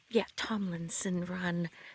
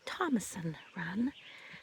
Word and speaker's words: Tomlinson Run: This is Thomason Run State Park, but it's actually pronounced, Tomlinson Run, but people locally call it Thomason Run.